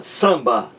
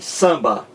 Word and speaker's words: samba: Veja como se pronuncia samba. O M não está aqui. O M é apenas um sinal de nasalização da vogal anterior, dizendo que essa vogal ela é nasal e não oral. Olha aí, samba.